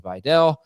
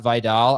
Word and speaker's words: Vidal: Jamie actually prefers Gainwell to Videll. By the way, pronunciation cops, pronunciation police. It is Videl, not Vidal.